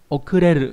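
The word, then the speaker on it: 遅れる: Okureru có nghĩa là đến muộn.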